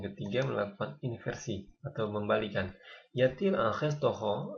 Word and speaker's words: y a-t-il: Kemudian untuk yatil di sini ditambahkan t itu karena agar pembunyian saja. Yatil, kalau enggak ini kan susah dibunyikan ya, diucapkan. Yail, jadi ditambahkan t, yatil.